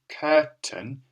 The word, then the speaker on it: curtain: just another example of how often when we're talking that we say this short sound instead of pronouncing the Spelling's as we normally pronounce